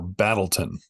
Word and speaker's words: Battletown: to a little town called Battletown, or Battleton is how they pronounce it.